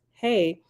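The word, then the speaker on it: ה: letter of the illustration another letter hey pronounced hey is the Divine daughter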